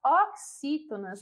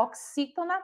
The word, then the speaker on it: oxítona: Então, a palavra oxítona se separa dessa forma: O, aí tem a palavra quis, né? O X aí com esse som. To, na.